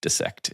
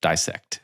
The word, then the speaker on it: dissect: And I believe you've pointed this out before, but I appreciate your pronunciation of dissect instead of dissect.